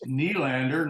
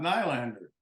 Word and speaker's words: Nylander: It's Nylander, not Nylander.